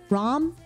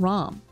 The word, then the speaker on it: Ram: meet rim and RAM for the first time ROM they pronouncing her her name ROM I got to meet them and they're great